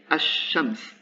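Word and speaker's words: الشمس: definite article before shams, actually the lam disappears and it's replaced by a shadda. So in this case, the lam disappeared and I say ash-shams.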